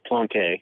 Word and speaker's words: Plonk: He is Plonk, joining us on the phone line today. How you doing, sir? It's pronounced Plonke.